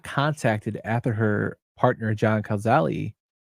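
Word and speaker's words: Cazale: she was not contacted after her partner John kazali K that's kazali how he say last name I believe yes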